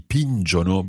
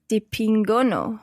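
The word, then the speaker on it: dipingono: the third person plural have a hard sound the hard g sound so it's not the pin jono but di pingo no the ping or di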